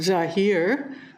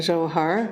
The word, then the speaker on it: Zohar: The same word, when pronounced Zahir, means beware, pay attention, don't go there. And then the other way of pronouncing Zohar means splendor.